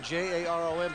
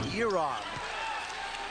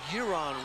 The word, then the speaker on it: Jaron: And it's Rue who comes into the game, and it's spelled Jaron, J-A-R-O-N, but it's pronounced Yeron. Two-point basket, Tony Harvey, but it's Yeron Rue.